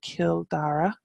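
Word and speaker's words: Cill Dara: then I go across to Kildare which is killed era the okay church will go to Wicklow then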